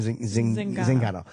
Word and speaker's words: Zingano: Zingano.